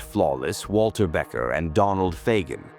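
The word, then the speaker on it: Fagen: If you weren't flawless, Walter Becker and Donald Fagan, pronounced F A Jen, fired you midsession.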